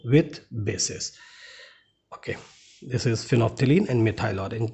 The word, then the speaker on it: phenolphthalein: फिनॉल्फ्थलीन, phenol यहाँ लिखा है बट इट इज़ फिनॉल्फ्थलीन, एल is silent here.